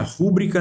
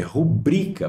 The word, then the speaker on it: rubrica: B páginas tá certinho proparoxítona rúbrica família rúbrica não existe tá ó não existe é rubrica palavra paroxítonas sem acento menu menu é uma